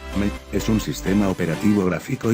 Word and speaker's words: ME: Windows Millennium Edition, que se pronuncia como una abreviatura, ME, es un sistema operativo gráfico híbrido de 16 bit / 32 bit.